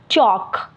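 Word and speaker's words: chalk: इसको हम पढ़ेंगे टॉक इसी तरह आगे जाए चॉक एल इसमें भी साइलेंट है स्टॉक नेक्स्ट है यक यानी कि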